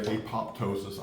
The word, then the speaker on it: apoptosis: process Dr what is apotosis well and most people say apoptosis I say apotosis but you can pronounce it however you want to and you look it